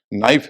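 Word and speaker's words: knife: problem होती है कि कई शब्द ऐसे हैं जहां के जो है एन के पहले आ रहा है और उसका उच्चारण नहीं हो रहा है कॉमन शब्द है आपके नो है नॉलेज है उसी से बना हुआ है नी है नाइफ है के एन आई एफ सब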